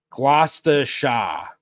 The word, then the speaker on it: Gloucestershire: Gloucestershire, not Shire. I my pronunciations are terrible, but thank you. Okay. Yeah, I see a lot of people tell me how to pronounce it. Hello, ironically, sardonically. Yeah, I think everywhere Shire is pronounced sheer.